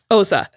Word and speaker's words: Xhosa: Now, Xhosa is Xhosa, and I'm pronouncing it in the English version. Mm-hmm. It is not that. It is a click language. So I tried and tried and tried. The closest I could get is Xhosa.